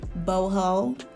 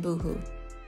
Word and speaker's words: Boho: gloss in the shade Boho. I know the last video I mispronounced it. I said Boohoo.